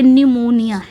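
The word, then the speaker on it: pneumonia: कि प आगे आएगा प साइलेंट है क्या य पर निमोनिया य आप याद रख सकते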